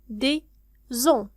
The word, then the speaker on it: des os: Lui garde des os. إذن هنا بالنسبة لكلمة os هو العظم. un os العظم. لكن عندما نضعها في الجمع مثال هنا des لا ننطق s نقول des os. des os.